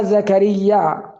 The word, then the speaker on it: زكريا: لها تولى كفالتها قراره تنطق كلمه زكريا بالمد قبل الهمز او قبل الهمزه فقطخفي زكريا زكريا زكريا زكريا زكريا